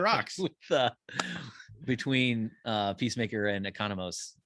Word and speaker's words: Economos: Is it Economist or Economos? I always heard it as Economos. Yeah, it's spelled with the MOS at the end. Okay, so Economos.